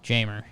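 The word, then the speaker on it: Jeimer: a five for six you pronounce the j you do yeah jamer weird i had a long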